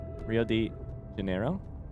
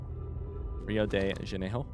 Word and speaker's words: Rio de Janeiro: The R is pronounced like an H. Janeiro? Rio de Janeiro?